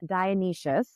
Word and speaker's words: Dionysius: Dionysius, which I have just learned is how you pronounce her name, and I'm very excited about